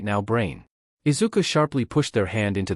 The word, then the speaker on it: Izuku: Ifuku, PPPFFF. He shakes his head at how Zashi tries to pronounce his name.